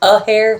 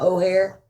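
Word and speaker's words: Athair: But now, a tyrant named Eric Aair has taken over this expanse of I'm sorry. How do you spell that? You don't want to know. Okay. It's a hair, not O'Hare.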